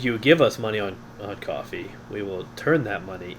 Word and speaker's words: Ko-fi: says "Buy me a coffee," I assume that that's how they want it pronounced. Kofi is coffee, although it looks like Kofi.